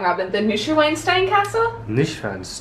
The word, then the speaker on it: Neuschwanstein: This is the, I'm gonna say it wrong, Robin, the Neuschwanstein Castle? Neuschwanstein Castle.